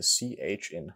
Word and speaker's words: chi: In Erasmian pronunciation, it sounds like the CH in chutzpah. In ancient pronunciation, chi sounds like a K with an H after it. It's similar to theta and phi. The technical term for this is an aspirated consonant. In ancient pronunciation, chi sounds like the KH in backhand. Psi is pronounced like a PS.